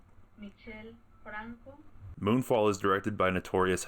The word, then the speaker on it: Michel Franco: Moonfall is directed by notorious hack Michael Franco. How do I pronounce that? Michel Franco.